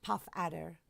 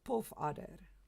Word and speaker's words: puff adder: this is pronounced because it's not puff adder it's not a puff adder no no that's not what it is it's a poof order this this remains let's